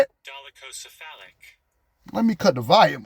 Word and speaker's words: dolichocephalic: Dolichocephalic.